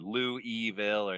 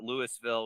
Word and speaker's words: Louisville: say it you know like you said Lou eville and Louisville or Lou Lewisville which is as wrong as it gets definitely not leis though